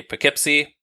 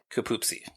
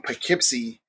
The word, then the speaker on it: Poughkeepsie: Kravitz, keeps trying to say Poughkeepsie, and she pronounces it Poughkeepsie.